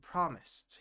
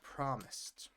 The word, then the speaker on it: promised: Uh, promised. Promised because the S sound at the end, the E is not pronounced, right?